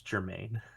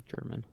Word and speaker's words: Germain: It's Germain. Says German. Does it It's say all about- German? M-A-N, not M-A-I-N. Well, it's actually Germain. Well, excuse me. Transfer to Paris Saint-Germain. Yeah, it's It's all actually pronunciation. Germain.